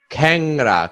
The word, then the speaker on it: খ্যাংরা: বিবৃত বা এ হয় যেমন খ্যাংরা এই যে অনুস্বার আছে খ্যাং খ্যাংরা অনুস্বার আছে এইটা ফলা আকার হবে খেংরা খেংড়া ল্যাংরা ল্যাংরা ঠিক আছে উচ্চারণের বেলায় আসে অনুস্বরটা অর মত উচ্চারণ করতে হয় খেংড়া ল্যাংড়া শ্বেত সেতে নয়